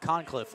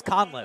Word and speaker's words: Conliff: Concliffe Forier and Simmons cuz I've been calling him Concliffe all season and it's Conliff.